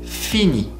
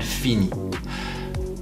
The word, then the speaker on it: finit: Il, elle finit. Il, elle finit. You don't pronounce the S at the end, as you have noticed, and the T, it's also silent, so it's basically sounding exactly the same way.